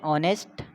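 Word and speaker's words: honest: जैसे हम बोलते हैं ऑनेस्ट, अब हम यहाँ पे एच क्या होता है, साइलेंट होता है।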